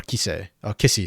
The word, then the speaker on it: Kissy: Whereas that's why I'm not pulling up stats for like Bull or Desamis, or Kissy, sorry. Apparently that's how his name's pronounced.